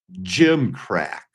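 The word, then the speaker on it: gimcrack: Jim crack. I only know it's pronounced Jim crack because I read it right there.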